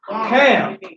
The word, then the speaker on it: Ham: Ham, and not ham, like spam, not ham like the meat, but it actually should be pronounced Cam, like a spelled KH or CH, Cam. Its original pronunciation is Cam, and it means, so